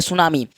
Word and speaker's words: tsunami: तो कह दीजिएगा कि जैसे नॉलेज में के साइलेंट होता है वैसे ही टी साइलेंट होता है इसमें तो सुनामी का इंग्लिश